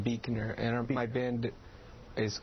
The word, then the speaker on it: Buechner: singer uh many of them have bands Buckner is that how you say it it's actually pronounced Beaker and my band is called Freya Freya Freya